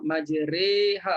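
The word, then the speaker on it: مجراها: Kenapa sampai bunyi re, tak pandai ke nak kata majroha? Bukan masalah tak pandai. Periwayatannya macam tu. Ya, periwayatan Hafsnya begitu, daripada guru ke guru sampai pada Rasulullah, majriha bacanya.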